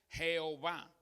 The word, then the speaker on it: Jehová: de pronunciar esta palabra dos pronunciaciones más comunes son ya web que las modificado a llave es un intento según los eruditos de pronunciar la palabra según una interpretación hebrea literal y literal lo más cerca a lo que se podía creer que se llamaba dios la web ya ve y se han hecho algunas como se llama algunos arreglos para latinizar el nombre una pronunciación latina jehová pero repito al no